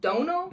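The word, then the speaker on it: Dónal: name is spelled Donald but it's pronounced Dono but you when you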